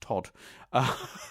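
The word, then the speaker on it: Toht: The sinister Gestapo agent, whose name is written Tont, but is apparently just pronounced Todd, which is I find quite funny.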